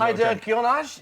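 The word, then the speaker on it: Hadergjonaj: So I'm just going Heider Gionaj, is that Yeah, you're not far. You're perfect, mate.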